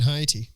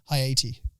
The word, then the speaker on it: Haiti: Yeah, they do it in Haiti, so I think we can like make some tweaks and Say that again? implement Haiti.